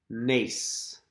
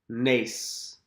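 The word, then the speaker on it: נס: Nace. Nace.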